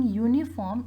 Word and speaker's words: uniform: Because U is giving us, when we are pronouncing uniform, it's giving us a sound of Y.